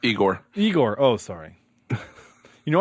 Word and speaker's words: Igor: in this movie for some reason um it's pronounced eigor eigor oh sorry you know I can fix